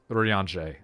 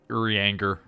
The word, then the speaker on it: Urianger: Urianshe. Urianger. Oh, thank you. Did I have to pronounce it like an American for you to get it?